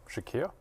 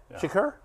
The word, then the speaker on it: Shakir: Yeah, Shakur. Khalil Shakir. Shakira. Shakir. Shakir. What did I say? Did I mispronounce it? I think you kind of went with like he went Shakur Sanders type of Yeah.